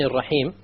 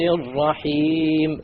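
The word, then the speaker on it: الرحيم: You cannot allow the tongue to roll. Ar-Rahman is a mistake. Ar-Rahman Ar-Rahim. No rolling.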